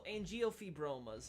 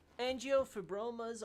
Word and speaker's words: angiofibromas: Angiofibromas is what I'd assume is the thing. I'm assuming the G is supposed to be pronounced like a J.